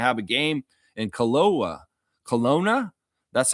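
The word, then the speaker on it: Kelowna: Colona, that's how you say it.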